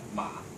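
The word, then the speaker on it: 马: Okay, so in Chinese we pronounce it ma.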